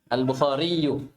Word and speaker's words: Al-Bukhari: Ingat, Al-Bukhari itu nisbah ya Al-Bukhariu. Jangan menggunakan sukun, meskipun diperbolehkan saat berhenti.